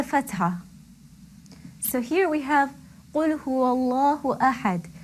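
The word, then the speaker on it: قُلْ هُوَ اللَّهُ أَحَدٌ: The waw that precedes the lam in Allah has a fatha. It carries a fatha. So therefore the Allah, the lam in Allah will be pronounced heavily. Qul huwallahu ahad. I'm sure you could hear the heaviness of the lam coming through.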